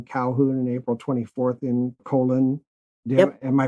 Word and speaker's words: Colon: April 22nd in Calhoun and April 24th in Colon. Am I pronouncing that right? Colon.